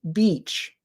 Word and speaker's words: beach: has the e sound this one has the sound so e you do this e beach beach beach and the sound is